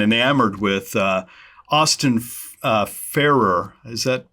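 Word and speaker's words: Farrer: more attuned and enamored with uh Austin uh Farer. Is that pronounced correctly? Farah.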